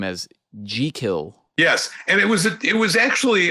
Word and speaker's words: Jekyll: So he borrowed the family name, and they pronounced it Jekyll.